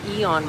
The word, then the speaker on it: Aeon: They have their main mall out here is called the Aeon Mall, but it's spelled A-E-O-N.